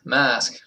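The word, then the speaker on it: Masque: So, that brings us to my favorite Kansas album is Mask. which is spelled the French way, which is yeah, mask.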